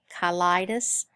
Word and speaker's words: cheilitis: Some people pronounce it cheilitis. But either way you want to pronounce it, I think would be acceptable, but I'm going to use cheilitis since I believe that's the way it's used in your book.